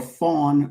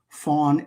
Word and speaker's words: Fon: The Ewe or Fawn language, EWE, pronounced Ewe, Fawn, F-O-N.